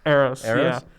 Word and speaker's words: Eros: Now, I don't know much about, is it pronounced Eros? Eros, yeah.